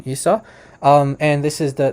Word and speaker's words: Esau: Esau uh you know just Standard English pronunciation isau um and this is